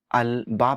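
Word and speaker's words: الباب: पे लगाया गया है, तो आप लाम को क्लियरली प्रोनाउंस करेंगे। अल अब कहेंगे, अल बाब कहेंगे, अल जद कहेंगे।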